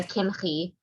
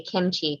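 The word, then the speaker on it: Kimhi: always want to say kimchi because that's how it's written in the english and like that's it's already its own word but that's obviously not a hebrew pronunciation um uh rabbi rabbi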